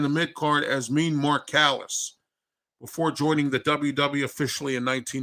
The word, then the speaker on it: Callous: Callis? Yeah, Callis. Yeah, Callis. But it was spelled differently, though. It's spelled Callous, not the way Nick Callis' name is spelled.